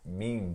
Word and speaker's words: meme: Meme? Not quite. Meme? Meme. Meme. Just so the meme. E is silent.